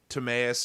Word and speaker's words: Timaeus: Is it Timaeus and Critias?